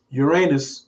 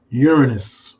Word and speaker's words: Uranus: I don't say Uranus because I don't like talking about people's anus. So we just pronounce it Uranus.